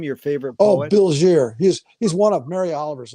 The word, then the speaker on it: Bilgere: Bilgier. He's one of Mary Oliver's, another one. Bilgier is spelled Bilgere.